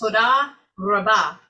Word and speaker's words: todah rabbah: Todah rabbah. Yeah, we there's a little bit of emphasis, like it's todah rabbah. So the emphasis on the back side of it.